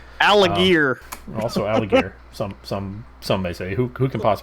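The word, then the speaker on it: Allgeier: Tyler like you know Tyler algae or as actually pronounced alligir also alligator some some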